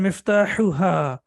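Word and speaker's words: مفتاحها: So the first one is both of them are from the throat, but this one is sharp. So we say miftahuhu and miftahuha.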